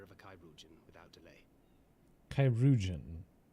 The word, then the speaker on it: chirurgeon: Chirurgeon. That's how you pronounce that word.